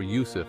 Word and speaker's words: Yusuf: the Prophet Joseph or Yousef as pronounced in Semitic languages